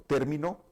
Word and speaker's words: término: palabra término por ejemplo término con acento en la e es una palabra esdrújula y significa un concepto